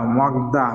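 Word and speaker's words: 먹다: তাহলে যখন এটা নিচে আসবে মক, তারপরে দ্বিগত প্লাস আ দা মগদা, মগদা মানে কি? খাওয়া। তার মানে গিয়ক যখন নিচে আসবে তখন এটার উচ্চারণ হবে কি? কর মতো।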